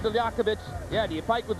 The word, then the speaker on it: Liakhovich: Friday aunan against Sergey lakovic and we're just going to pronounce it Lovich because his manager asked us to just stick with Lovich uh you can see